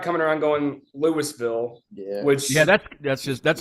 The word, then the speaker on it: Louisville: And I say it like you got peanut butter on the roof of your mouth.